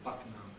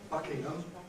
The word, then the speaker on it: Buckingham: Similarly, Buckingham Palace, you'll hear people saying Buckingham with an alveolar. Buckingham Palace, and then or phrase of compression and so on happening there. Buckingham Palace. Nevertheless, the standard pronunciation is Buckingham, and it's something we're quite sensitive to.